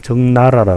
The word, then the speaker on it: 적나라: 적나라하다 뭐 원색적이다 의미인데요 발음을 주의해야 됩니다 원래는 난난데 우리나라 그 우리말로 할 때 정나라라 그럽니다 정나라 그 입을 피자